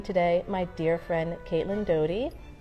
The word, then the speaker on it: Doughty: I am D O U G H which actually spells the word dough, T Y which spells tea, and yet my name is Dougherty, Dowdy, Yeah. any number of things, but You pronounce it Doughty.